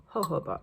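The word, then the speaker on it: jojoba: true 2 milliliters of hoba oil it's spelled j o j o ba but you pronounce it like with the Spanish sound with the H the ho like Jorge hoba oil the hooba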